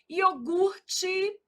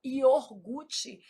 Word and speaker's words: iogurte: Iogurte. O R é aqui, a gente às vezes desloca esse R, fala iorgute. Isso é um erro de ortoépia.